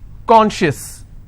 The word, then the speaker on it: conscious: Conscious. How many syllables do I have? 2. And I will stress on conscious.